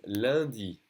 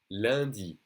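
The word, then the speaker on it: lundi: rid of this in the moment monday is landi landi okay that uh landy perfume a flavor even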